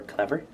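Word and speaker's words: C Lever: sea lever okay um it's spelled c space lever for clever clever um this allows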